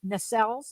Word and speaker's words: nacelles: So they added the lower section and the nacelles. Is that how that's pronounced, Yep, Laurel? nacelles.